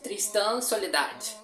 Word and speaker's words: Tristan Soledad: In Portuguese, okay, Brazilian pronunciation, Tristan Soledad.